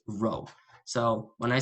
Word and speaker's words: rho: is called this is the greek letter rho i pronounced row so when i say